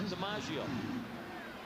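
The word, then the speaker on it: Domingeaux: Last name spelled D-O-M-I-N-G-E-A-U-X, but it is pronounced DiMaggio.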